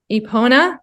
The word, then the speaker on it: Epona: So the name of your business, Epona Therapy. So tell me, Yep. is that right? Did I say it right? Epona Therapy Services, yes, and that is the Celtic goddess of horses and healing.